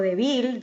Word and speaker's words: débil: aquí la palabra débil la sílaba tónica es d donde suena más duro yo lo digo débil digo débil así que si estás